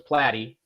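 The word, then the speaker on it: Platte: It's a magic trick that that blows me away because it it it people always mispronounce it and forget there's an e there. So, it's Platty. Platty.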